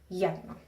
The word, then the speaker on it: yerno: But it can also act like a consonant if it's at the beginning of a word, like the word yerno, which means son-in-law, and sometimes the Y you'll hear it pronounced more like a yeah, like a hard sound, yerno, okay?